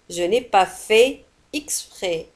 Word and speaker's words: exprès: لاحظوا على أن في تنتهي بالتي ولا تنطق. Je n'ai pas fait exprès.